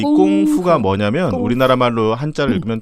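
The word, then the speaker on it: 功夫: 그러니까 쿵후 어떤 사람은 쿵후 어떤 사람은 쿵푸 막 어떤 사람은 이제 그렇게 읽는 거죠. 그래서 쿵훈지 쿵푼지가 됐는데 원래는 꽁푸가 맞습니다. 푸르도 들리기도 하고 후루도 들리기도 하고. F 발음이니까.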